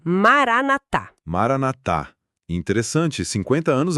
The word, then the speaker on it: Maranatha: E atenção aqui, pessoal, a pronúncia é essa, Maranatá.